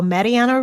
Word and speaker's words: Marianne: is episode 4 how Mariana Roots helped a Furniture Company exceed their target Revenue my name is Mariana roots and it's actually pronounced Marian the German Way kind of a bit